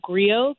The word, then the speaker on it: griot: So right now the video is up on Instagram and YouTube under the platform at The Local Griot. Griot is spelled Grio.